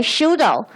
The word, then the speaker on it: pseudo: for for this word don't pronounce p okay pseudo pseudo and okay so how